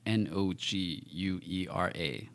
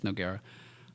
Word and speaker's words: Noguera: I don't have to tell you, but for other people, the U is there to show that the G is a hard G.